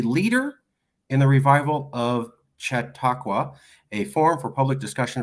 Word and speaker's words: Chautauqua: No, it's all correct, way more than I deserve, frankly, but the pronunciation is Chautauqua. Chautauqua after Lake Chautauqua in upstate New York.